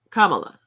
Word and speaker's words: Kamala: But then we had Kamala. Sometimes I say Kamala. Sometimes I mispronounce her name because of my accents, but I try to make sure that I pronounce it right.